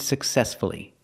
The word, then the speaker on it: successfully: we pronounce the U success again distress is on the second syllable so we pronounce the U successfully again respectfully you have